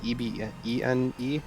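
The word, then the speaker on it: Ebene: How do you pronounce it? It's E-B-E-N-E? How do you pronounce it? It's Eben.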